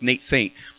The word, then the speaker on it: Nate Saint: it nate nate saint nate saint he helped me remember because it rhymes nate saint he was the air